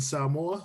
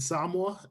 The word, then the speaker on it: Samoa: I used to say Tonga and Samoa, but it's Tonga and Samoa.